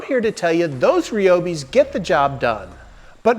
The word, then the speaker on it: Ryobi: These are made by Ryobi. And before you leave a comment, I know it's pronounced ryobi.